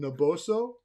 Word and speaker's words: Naboso: And she's also created a new product on the market called Naboso. Did I pronounce it properly?